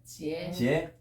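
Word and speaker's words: 截: 절이 저로 바뀌어 어떻게 발음이 돼요? 해봐. 지에, 장은 그대로 비슷하게 납니다.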